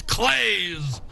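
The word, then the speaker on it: Kleszcz: We learned how to pronounce K-L-E-S-Z-C-Z. It's Clays. And he hits it.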